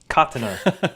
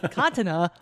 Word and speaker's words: katana: episode with anubis they pronounced katana all up and i had to pause and be like what the hell katna katana who the [ __